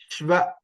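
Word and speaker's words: श्व: Shva. So shva is sh plus va. Adhigam va. Sh plus va. Shva.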